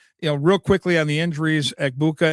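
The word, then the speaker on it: Egbuka: And, real quickly on the injuries, Igbuka and Puka, It rhymes.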